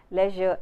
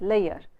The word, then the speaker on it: leisure: speakers in Punjab always tends to pronounce the word pleasure as player, leisure as layer.